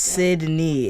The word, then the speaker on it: Cydney: It's pronounced Cydney. It is the Everyone says my name wrong.